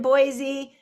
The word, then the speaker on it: Boise: And Carolyn in Boise, uh, which only has two syllables and I get that.